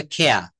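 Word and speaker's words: care: যেমন বলছে কেয়ার, এটা কিন্তু তারা এই আরটা বাদ দিয়ে বলে খেয়া, খেয়া, ফেয়া, হিয়া, আমরা বলি না।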